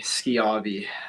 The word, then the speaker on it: Schiavi: good I tell people think of a school you know you don't say show you say school it's because SCH so